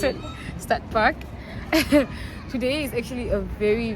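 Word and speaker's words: Stadtpark: That's how to pronounce it. Stad Park.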